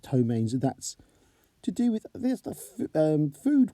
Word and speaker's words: ptomaines: It's actually pronounced ptomaines.